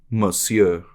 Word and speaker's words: Monsignor: I think you just don't pronounce the N, like Monsieur. Monsieur. The N Monsieur. throws you for a loop.